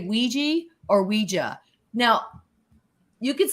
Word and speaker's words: Ouija: it and it said the phonetic spelling is Weeja. They gave the phonetic spelling of it. So we know for a fact it should be pronounced Weeja, although people say Weegee.